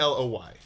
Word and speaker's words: Aloy: and the character's name is Alloy or how do you pronounce it? It's Aloy.